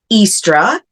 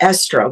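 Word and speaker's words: Ēostre: name EOS is pronounced estra asra or estra which is very close to Easter and she represents fertility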